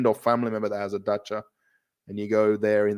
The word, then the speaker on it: dacha: So, not cha like say dacha, not cha.